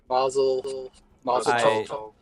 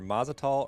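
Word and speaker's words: Mazatzal: Mazel Tov. I think I say it wrong every time. It's either Mazatol or Matazal, one of those two.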